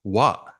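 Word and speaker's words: は: That's one of the funny characters where ha can also be pronounced wa when it's a subject marker.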